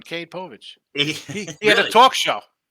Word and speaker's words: Cade Povich: The Orioles going to be sending a lefty, Cade Pouch, I don't even know how to pronounce his name, 0-1, 3.94. And it's Maury Povich's son, Cade Povich.